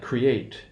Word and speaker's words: create: If we have a verb, we have the O1 stress pattern, like create, right?